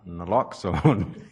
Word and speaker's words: naloxone: The correct pronunciation is naloxone.